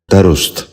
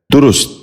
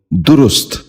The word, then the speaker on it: درست: غور سے سنیے، درس۔ پانچواں لفظ ہے درست۔ یہ تلفظ صحیح نہیں، اس لفظ کا صحیح تلفظ ہے درست۔ دوبارہ سنیے، درست۔ بچوں آپ بھی غور